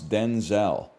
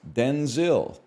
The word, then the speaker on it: Denzel: That's how we got to pronounce Denzel. Washington clarified that his first name was originally pronounced Denzil as opposed to the Denzel he uses now.